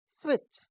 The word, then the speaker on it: switch: दोस्तों इस शब्द को आप स्टार मार्क कर लीजिए, इसमें टी साइलेंट है। हम इसको क्या पढ़ते हैं? स्विच।